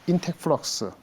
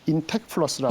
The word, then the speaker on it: 인텍플러스: 그런 업체들이 몇 가지 있는데 제가 커버하는 종목 중에서 인텍플럭스 발음이 좀 쉽지 않죠. 인텍플러스라고. 인텍플러스.